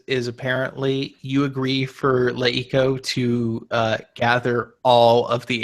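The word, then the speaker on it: LeEco: So it is Leiko, much as it was Le TV.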